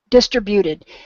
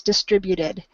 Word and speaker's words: distributed: said everything was good I am going to give you one word um because you had I'm trying to think of how you said it distributed it's a pronunciation um distributed distributed I i think is how you said it and that is a common way that it gets mispronounced we still understand it so don't stress over it but if you wanted something to practice it's distributed and I hear another